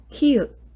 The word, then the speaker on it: 키읔: Next one is 키읔, key. So it actually really sounds like key, 키읔, K.